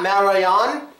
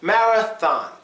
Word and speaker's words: marathon: anymore not at all it makes a f sound so it does not count it is not Maran it's Marathon now to the last one